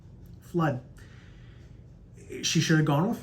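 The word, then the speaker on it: Fludd: Her husband's last name, Flood. F-L-U-D-D. Flood.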